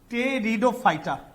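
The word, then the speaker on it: Pteridophyta: टेरिडो में P silent होता है, टेरिडोफाइटा।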